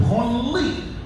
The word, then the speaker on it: Branly: It's pronounced Branly, not Branly. If you pronounce it Branly, it becomes the museum for touching yourself.